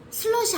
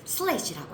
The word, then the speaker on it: 슬래시: 슬러시 아니에요. 이걸 슬러시라고 발음하는 아이도 있는데 이 표시 있잖아요. 이건 슬래시라고 하는 거야.